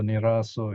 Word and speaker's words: nirāso: This consonant helps us to pronounce the word more easily. Otherwise, we have to say like nirāso. You can feel in your mouth there's a bit of a jump there. So nirāso is smooth.